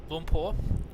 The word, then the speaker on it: Lumpur: Lumpur is how you pronounce. Oh, sorry, Bantam. Lumpur, Kuala Lumpur. Lumpur. Not Kuala Lumpur. Not like Oompa Loompa.